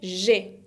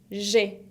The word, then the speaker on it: j'ai: Y digo j'ai, porque acuérdense que la A con I se pronuncia E, como una E abierta.